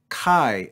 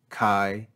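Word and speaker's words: καί: here next we have the greek word kai and we see a diphthong here with an accent mark over the second vowel of the diphthong this is a grav accent so this word since it's one syllable is going to be spoken with a lower pitch than our normal speech kai you hear the drop in pitch marked by the grav accent we then again have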